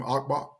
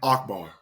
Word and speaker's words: Akbar: you with uh the author and philosopher Naim abbar no okay I said his name wrong I'm sorry star Naim Naim Akbar excuse me Naim Akbar um is a Prof